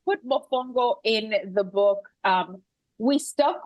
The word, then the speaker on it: mofongo: Is it mofongo?